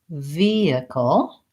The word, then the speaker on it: vehicle: here's the reason why in vehicle we have first syllable stress and I don't know if that's the reason why but there's no H sound versus in the hip Euler we have second syllable stress and so we use that H to start the syllable vehicular yeah that's kind